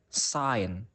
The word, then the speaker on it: sign: Now, the letter G is usually silent in words such as sign, champagne.